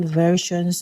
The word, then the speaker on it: versions: Okay, again, a good example of that omitted vowel sound is over here. So it's a ver. Okay, I'm not saying ver. Okay, it's versions. So heavy Z sound on the S sound. Ver. So from the V sound, I immediately go to the R sound.